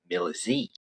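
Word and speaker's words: Milesi: Uh, I know in English we refer to him as Malaysi, but my my Brazilian commentators they call him Millis.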